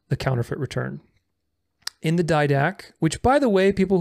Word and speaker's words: Didache: In the Didache, which, by the way, people who are correcting me on the pronunciation of Didache and telling me that it's pronounced Didache, it's not pronounced Didache.